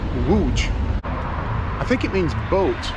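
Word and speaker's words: Łódź: know that like uh for many years i refer to the city as lonz because that's what it looks like in english l-o-d-z it's actually the pronounced wooj i think it means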